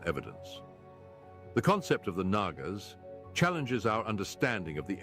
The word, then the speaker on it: Nagas: I wouldn't listen carefully, it swears it sounds like I'm saying Nalgas. But it's Nagas.